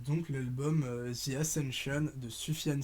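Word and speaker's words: Sufjan: l'album csn shon de soufiane stevens que c'est parce c'est comme ça qu'on prononce donc son huitième album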